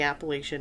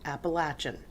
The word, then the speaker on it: Appalachian: was in Southwestern Virginia they say Appalachian I kind of never use the word Appalachian because I didn't want to be looked at weird because up here we say Appalachian Appalachian is the most correct way to say it either way is correct appalachin is mostly is the most accepted the Appalachian Trail is